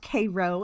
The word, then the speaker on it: Cairo: cairo illinois and yes it is spelled it's pronounced cairo and not um that's just how it is